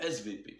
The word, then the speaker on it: SWP: Le SWP, en allemand le W se prononce V, le SVP.